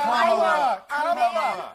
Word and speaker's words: Kamala: Let me actually pronounce her name right. Kamala Harris. If Kamala.